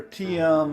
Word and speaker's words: Tim: Hi, yeah, my name's Tim, but you live in North Carolina, and people pronounce your name with 2 syllables. And if you go to Spotify and you look for Teeyum, you can see the record I recorded last year.